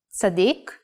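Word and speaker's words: צדיק: sadic if pronounced while putting the emphasis in the last syllable sadik means righteous person or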